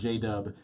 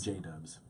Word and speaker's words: JDVBBS: you don't know so when you spell it it's JD V instead of the you so j-dub it's jbv BBS yes J dubs there we go and